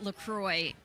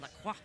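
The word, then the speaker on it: LaCroix: how to pronounce this is it l Croy I think we call it lroy in this country but if we were French we would call it laqua all right well that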